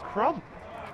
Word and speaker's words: Crump: Yeah, someone thought I said Trump, but it's Crump.